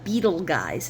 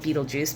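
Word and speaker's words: Betelgeuse: predicting any time now there's a beetle guys is what they call it I most people just call it Beetle Juice me too because I can't even help it it's just the way it's spelled uh and it's the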